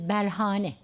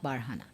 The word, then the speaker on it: Berhane: And he said the correct spelling of the word is Berhane, not Barhana.